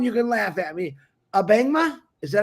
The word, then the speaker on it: Abangma: Abangma?